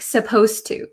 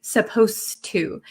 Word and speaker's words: supposed to: pronounce supposed to um the D sound and the T sound become kind of like one sound so when I speak supposed to supposed to it doesn't sound like